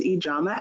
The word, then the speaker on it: Yana: everyone my name is Yana okay I tell people my first name rhymes with pajama also health each AMA